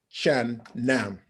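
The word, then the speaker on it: Chang Nam: Shan Nam. Okay, good good pronunciation.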